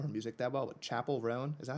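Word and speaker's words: Chappell Roan: I don't know her music that well, but Chapel Roan, is that how you pronounce her name?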